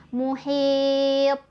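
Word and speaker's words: محيط: Bacaan yang salah misal muhit, ditahan lidahnya, harusnya dipantulkan, muhit.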